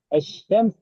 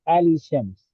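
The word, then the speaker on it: الشمس: So you cannot say Ali Shams. So the lamb has to enter into the Shin. So it becomes Shams.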